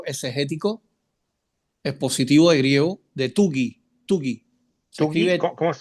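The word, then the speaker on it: Tuggy: También puede ser el diccionario ilustrado de Wilton Nelson y también el diccionario exegético expositivo de griego de Tugi. Tugi. Se escribe ¿Cómo es?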